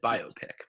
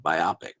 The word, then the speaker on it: biopic: So I always pronounced it biopic, but whatever. Is that it? Am I pronouncing it incorrectly? I think it's biopic. All right. I mean, if I am, I'm willing to be corrected. I've always heard others pronounce it biopic. Yeah, it's definitely biopic.